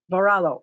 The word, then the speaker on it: Varallo: sure we're saying it correctly sure yeah varala varallo okay thank you now um ryan well how